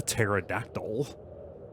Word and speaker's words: pterodactyl: person to know that the P is silent we don't say the pterodactyl come on my story